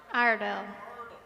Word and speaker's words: Iredell: All right. Iredell? Iredell. I would have got that wrong. I was saying Iredell. Iredell. Iredell. Got it. Well, it's good to be in Iredell County.